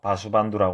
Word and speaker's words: 바수반두: 쭉이어서 21조가 되는 분이 바수반두 존자님 있니다 이분은 중국에서는 세친 보살로 알려져 있죠 이분은 인도 발음으로 바수 반두라 읽고 중국에서는 이렇게 새이고 번역했습니다 이분 법을 다시 이은